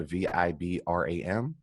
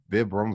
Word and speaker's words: Vibram: don't want to mispronounce the shoot name but it's spelled v-i-b-r-a-m so vibram vibram whatever vibrator i can't say that